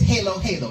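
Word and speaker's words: halo-halo: from Hawaii she said you pronouncing it wrong it's Halo Halo next time you come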